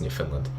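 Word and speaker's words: Newfoundland: okay cat saying yes that's how you pronounce New Finland dig saying Prince Edward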